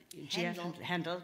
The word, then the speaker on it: Handel: Handel wrote, Handel, pronounced correctly, yes.